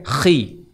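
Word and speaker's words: Χ: X dalam bahasa Yunani bacanya Khi.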